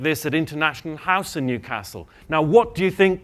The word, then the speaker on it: Newcastle: I'm not from Newcastle. That's how they say it wrongly in the south. I'm from Newcastle. And that's how you say it.